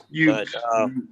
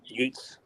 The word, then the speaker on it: Utes: That's how you pronounce that damn team name. Utes. Utes.